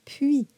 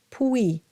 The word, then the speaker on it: puis: So now we have that sound again, puis, and it's not puis. Sounds like fooey.